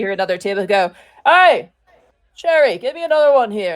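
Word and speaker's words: Sheri: Sorry, did you say that person say her name was Cherry? Yeah. Cherry. Like the fruit? Sherry. Sherry, okay. S-H-E-R-I. Okay. Like Sherry, the yeah. drink.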